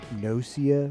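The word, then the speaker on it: Gnosia: heard about this game noia with a g a silent g at the start that's supposedly come into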